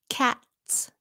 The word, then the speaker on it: cats: Cats. Cats. Dogs, Z, but cats, S.